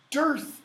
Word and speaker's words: dearth: By the way, Darth Vader. What's his name mean? Darth Father. Darth Father. What does Darth mean? Darth. If you have a Darth, or more correctly pronounced, dearth of something, You have none of it.